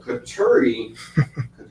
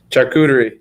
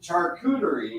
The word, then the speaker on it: charcuterie: a filler and then i always get the name wrong on this but katuri charcuterie charcuterie imports and sushi those are these are sushi